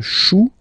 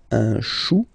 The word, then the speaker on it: chou: Then, un chou. Okay, remember, when you combine this C and H, you get the sound sh. Chou, un chou.